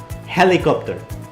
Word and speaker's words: helicopter: un helicóptero ok la palabra helicóptero en inglés se pronuncia como una jota al principio helicóptero helicóptero